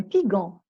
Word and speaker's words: pigeon: Mais là, comment je vais le prononcer? Un pigeon. Qu'est-ce que je dois mettre? Le E.